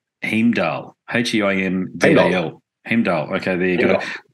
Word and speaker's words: Heimdal: It's called, and I'm going to stuff it up, so you correct me on my pronunciation, Heimdal, H-E-I-M-D-A-L.